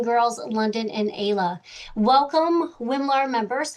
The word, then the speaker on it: WMLAR: I'm glad I know how to pronounce that because I was like, WL, that's a little too long. So, it's great that you have a simple way of saying that.